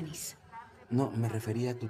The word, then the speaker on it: Nice: Nice. se pronuncia Nis.